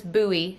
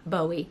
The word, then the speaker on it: buoy: this I learned that you actually pronounce this buoy not Bowie my bad so another